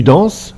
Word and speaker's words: danses: Dans tu danses, le S à la fin ne se prononce pas.